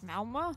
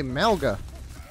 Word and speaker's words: Malga: supposed to say that is the G silent malma so cool though I thought you actual for a second joy that is how it's pronounced really malma but even he say like all the people around him in Talon say malga that might be the proper